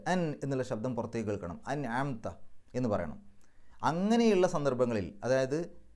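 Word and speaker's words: أنعمت: ഇനി സിറാത്തുൽ ലദീന അൻഅംത, അൻഅംത എന്ന് പറയുമ്പോൾ ഐനിൻ്റെ മുമ്പ് സുക്കൂനുള്ള നൂന് വന്നു.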